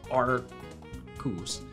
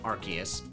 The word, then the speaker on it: Arceus: Every single Pokemon on this page, its name starts with R and is pronounced R at the beginning. Arkin, Archeops, Arcus. But it says Arceus, terrible.